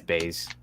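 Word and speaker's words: Buys: read this name because it's spelled byes so i don't know why it's i don't know why it's baze um i don't know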